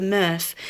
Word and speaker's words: MRF: materials reclamation facility, the MRF. The great word, that rhymes with Smurf.